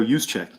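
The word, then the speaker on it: Juszczyk: that's pretty dang hard not gonna i can pronounce it right though use check there you go okay well you know that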